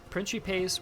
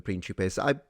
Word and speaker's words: principes: Note, interesting that he switched to ecclesiastical pronunciation and called them principes. It doesn't offend me. I mean, some people get really mad at it. I mean, they're both correct. It's just that, they wouldn't have said principes because it's too modern as a pronunciation, if you will. But it is the Italianate pronunciation, and being Italian, it